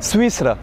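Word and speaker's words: سويسرا: Swissra.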